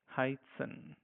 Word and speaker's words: heißen: As you see, this is set. If you have followed our tutorials from the class one, it's pronounced as double S. Heißen.